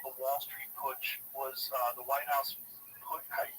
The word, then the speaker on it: Putsch: The business plot called the Wall Street Putsch was the White House put.